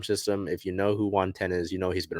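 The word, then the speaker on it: Juan Then: On May 6th, the team recalled right-handed pitcher Juan Ten from AA Arkansas as a result of the Penn Murphy move. So it is spelled Juan, T-H-E-N, but it is pronounced like the number 10. So Juan Ten.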